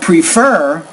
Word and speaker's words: prefer: would prefer prefer so put stress on that second syllable pronounce that word a little more clearly I would prefer because it will be